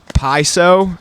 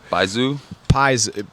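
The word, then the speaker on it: baizuo: listen to the words man it's a word pronounced paiso penis no b-a-i-z-u-o by zoo literally white left is a chinese neologism and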